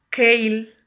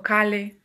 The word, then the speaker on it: kale: Pues de rúcula, las hojas de la remolacha, perejil, cilantro, kale o kale, según como lo pronuncies, que por cierto tiene mucho calcio.